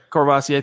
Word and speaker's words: Courvoisier: Been drinking how do you pronounce that, Zach? I don't know. Courvoisier. Thank you. That's the Courvoisier.